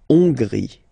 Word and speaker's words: Hongrie: So remember, H doesn't exist, so you don't pronounce it. So it starts with O-N, on, and then gris, final E, not pronounced. La Hongrie.